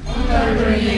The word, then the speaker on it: entrepreneur: entrepreneur بقول لكم نطقها زي الفرنساوي شويه.